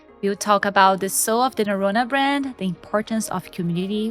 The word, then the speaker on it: Norrøna: Yeah, in Norwegian we call it Norrøna, but here in the States, or I guess in most other markets, it's pronounced Norrøna.